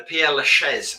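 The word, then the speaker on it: Père Lachaise: burial hill and massachusetts the pier laches laches that's how you say it as well as they pronounce it in flinch i live in france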